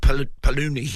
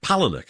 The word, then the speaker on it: Palahniuk: And if you've not read, if you're much of a reader, I think he's pronounced Palahniuk. It's a weird spelling, but Palahniuk.